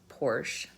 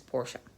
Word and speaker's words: Porsche: like the Porsche brand it's not Porsche is Porsche so Porsche brand car